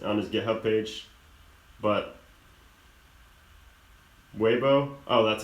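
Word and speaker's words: Weibo: there on his on his GitHub page but waybo oh that's how you say it webo okay cool yeah so if you can if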